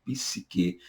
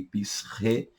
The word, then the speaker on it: psique: hebraico, e psche, ou psique, aí no grego. Sinta-se à vontade, porque existem essas duas pronúncias, psique e psche.